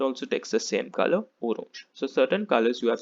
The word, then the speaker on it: orange: feminine which is orange it spelled the same way in english as well pronunciation is a little different okay it's orange in the masculine orange